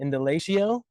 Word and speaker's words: Indalecio: All right, welcome to the Mountain Podcast with our little mini microphones here, episode 6 with my boy Indalecio.